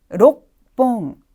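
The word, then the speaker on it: 六本: 홍이라는 조수사의 붙은 형태입니다 자 그런데 로크 다음에 홍이라고 발음하기가 좀 힘드네요 따라서 발음의 편이성을 주기 위한 은편 현상이 일어나고 있는 것입니다 q가 초금으로 바뀌고 발음이 좀 강해지면서 뒤에 있는 호라는 글자에도 반타금점이 붙고 있네요 따라서 발음은 록 뽕 록 뽕이라고 해주시면 돼요 이번에는 훈독으로 갈 텐데요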